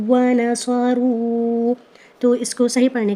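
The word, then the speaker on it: وانصروا: اگر ہم اس کی ہجے کریں، حمزہ کھڑا زبر آ، واو زبر واو، واو زبر وا، آ واو وا. نون زبر نا، صاد زبر صا، را واو مد پیش رو، آووا ونصروا.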